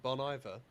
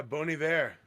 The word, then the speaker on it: Bon Iver: So I was today years old when I realised you don't pronounce it Bon Iver. Yeah, Bon Iver. That sounds Even I so knew much that. nicer. It's like it's French.